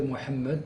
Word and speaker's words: Mohammed: Bon, pour répondre à votre souci bon, je prononcerai Mohammed carrément avec le H guttural puisque je parle arabe et je fais aussi des débats en arabe, c'est pas le problème.